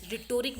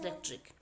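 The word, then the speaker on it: rhetoric: हम बोलते हैं रेटिक स्पेलिंग होती है आर एच ई टी ओ आर ए रिटोरिक बोलते हैं कई बंदे बट इट्स रेटिक it's right pronunciation is रेटिक okay okay just अ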